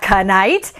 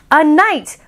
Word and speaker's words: knight: caught me green bear it's not ca night it's a night but not night as in night and day the kind of knight who has shining armor the noble knight knife